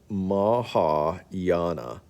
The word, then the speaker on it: Mahayana: and laos now the uh the ho that pronunciation is terrible maha yana mahayana buddhism mahayana buddhism teaches that buddha is